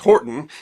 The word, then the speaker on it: Hoghton: The family first took the name Horton, spelled Hoghton, but pronounced Horton, in 1150.